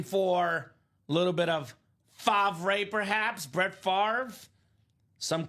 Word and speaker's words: Favre: Some called him Favre Favor, but it's definitely Favre. Dom when he was drafted Brett Favor. Brett Favor. The commissioner called him that. It's not good. Not a good look.